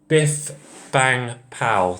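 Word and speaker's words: Bif Bang Pow!: claimable also American company and we also have bith bang pow that's how you pronounce it and obviously that's also an American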